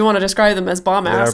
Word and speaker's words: Bombas: And you get 20% off of some fucking bomb-ass socks. Dedeker keeps pronouncing it bomb-ass instead of bombas.